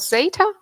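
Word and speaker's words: Xata: I work in a company called Zeta. That's how we pronounce it. But I think it's in Spanish. They can even say it like chata or something. So there are multiple ways to read it, but we say it Zeta.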